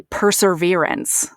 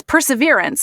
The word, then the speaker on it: perseverance: Because I would always say perseverance. And then finally, somebody was like, why do you keep saying perseverance? And I'm like, well, that's how you say it. They're like, no, it's perseverance. And I was like, well, that's only if you don't say that R. And they're like, there is no R there.